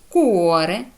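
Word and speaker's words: cuore: вивчити і запам'ятати далі коли буква буква ч читає це як к коли вона стоїть після неї йде голосна а о у наприклад ка Каза будинок коза річ куоре серце бачите наприклад Та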